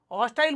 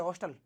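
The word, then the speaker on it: hostile: उत्पाद आगे आओ एच हॉस्टाइल बोल सकते हैं बाकी शुद्ध उच्चारण होता है हॉस्टल हॉस्टल का अर्थ है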